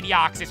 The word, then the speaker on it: Deoxys: I say Deoxys, right? If you guys pronounce Deoxys anything other than Deoxys, I'm gonna ban you.